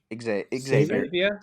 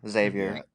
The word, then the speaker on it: Xavier: Xavier. Yeah. Xavier. Xavier with an X or a X or a Z. Either one works pronunciation.